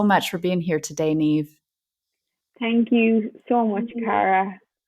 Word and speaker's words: Niamh: l d and then neave is spelt n i a m h so the m and the h in the irish language when they come together they pronounce the v so biofuels with me